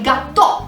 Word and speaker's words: gattò: Prepariamo il gâteau di patate, o detto alla napoletana il gâteau di patate, proprio con 2 T e con l'accento sulla O, quindi non il gâteau francese, ma il gâteau napoletano.